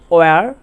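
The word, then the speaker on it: where: তাহলে এক্ষেত্রে আমরা বলবো হোয়াট না বলবো ওয়াট, হোয়েন না বলবো ওয়েন, হোয়ার না বলে বলবো ওয়ার, হুইচ না বলে বলবো উইচ, হোয়াই না বলে বলবো ওয়াই, আর হো না বলে বলবো হু।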